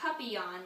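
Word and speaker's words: papillon: hope we get a puppy on like our neighbor's dog you say it like this puppy on in French it means butterfly do you know how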